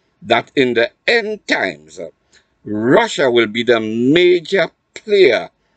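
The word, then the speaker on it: רשע: In the English, it is spelled R-A-S-H-A, but phonetically, it is Russia.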